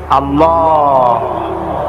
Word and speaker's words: আল্লাহ: কি আল্লাহ না কিন্তু মুখটা গোল করে উচ্চারণ করতে হবে সুন্দর করে আল্লাহ বলেন সবাই আল্লাহ اللہ আল্লাহ